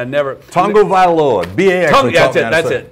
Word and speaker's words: Tagovailoa: Tagovailoa. B.A. That's it. Tagovailoa.